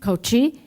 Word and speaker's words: Kochi: 2 Iranian warships were docked in a town, I don't want to pronounce it wrong, Kochl, In Kochi? Kochi, the headquarters of Indian Navy Southern Command, for a training program under a 3-year-old military cooperation agreement with Tehran.